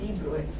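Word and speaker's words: de Broglie: very important deep brewing actually written as d brokenly but pronunciation is d brewed b bro and heisenberg's principle i'll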